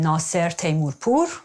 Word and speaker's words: Nasser Teymourpour: Auf Persisch ausgesprochen Nasser Teymourpour.